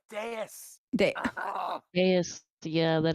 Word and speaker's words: Deus: It's pronounced Deus.